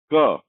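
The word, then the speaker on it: ka: Next letter क, का। Letter का नाम है का, आवाज देता है क की, लेकिन क्योंकि स्पेनिश भाषा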